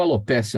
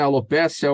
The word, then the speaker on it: alopecia: Alopécia ou alopecia. Na verdade, os dicionários brasileiros não falam a respeito da pronúncia. Como não tem acento no E, então acho que é mais correto alopecia, né?